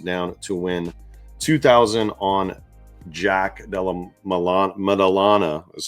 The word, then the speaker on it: Jack Della Maddalena: I put $800 down to win 2,000 on Jack Della Maddalena is how you pronounce his name.